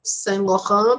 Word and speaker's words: Saint Laurent: Actually, the pronunciation is Saint Laurent because it's French, right?